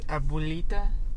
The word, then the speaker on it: abuelita: And Miguel wants to become a musician, but his abuelita, is that the correct?